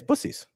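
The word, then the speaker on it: Buc-ee's: Yeah, it's Buc-ees. That's how it's pronounced.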